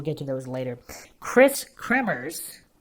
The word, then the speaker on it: Kremers: KRIS KREMERS, phonetically pronounced Kremers with a hard trilled R, a middle child with